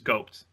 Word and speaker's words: GOATs: But on the flip side, it's GOATs. It's GOATs. Just call it We saw GOATs all weekend. It's one syllable.